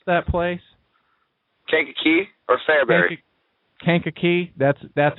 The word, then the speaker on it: Kankakee: Kankakee. That's how it's pronounced.